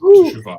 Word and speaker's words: Shuva: So his 3rd book of poems, Shuva, is that how you say it? Yes, Shuva, is forthcoming.